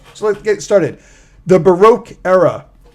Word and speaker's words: Baroque: let's get started the Baroque era pronounced baroque it's a hard word to say baroque sometimes it's pronounced Barack and there's a Barack